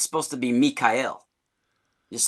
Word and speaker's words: Michael: age of Archangel Michael we actually mispronounce Michael it's supposed to be Mikael that that word and